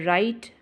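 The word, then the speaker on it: Wright: years to discover radium so did the right Brothers W is silent to invent an aircraft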